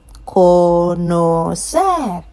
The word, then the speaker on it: conocer: Any word ending with a consonant apart from N or S has the stress on the last syllable.